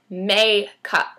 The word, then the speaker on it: NYX: NYX. So it's spelled NYX.